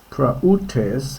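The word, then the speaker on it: πραΰτης: It's two vowels, not a diphthong here.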